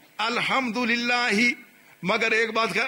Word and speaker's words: الحمد: یہ جو ہم پڑھتے ہیں الحمد للہ رب العالمین یہ پڑھتے ہیں نا, یہ صحیح نہیں ہے. یہ ہے پیش دو الحمد للہ, مگر ایک بات